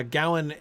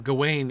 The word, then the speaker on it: Gawain: Both are legitimate. Uh Gawain seems to be the Middle English pronunciation, um at least in the context of alliterative verse, almost certainly. Um Gawayne is the French translation. So, when you're reading um like um Chrétien de Troyes, it's Gawayne, clearly Gawayne.